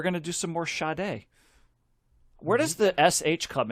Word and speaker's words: Sade: I mean, maybe when you're young, right, and you see it, you say, is that pronounced Sade, like Jade? And then you get told, well, no, it's Sade, because that's what she said.